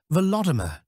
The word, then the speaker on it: Volodymyr: Ancient chronicles always have his name in its Ukrainian pronunciation, Volodymyr.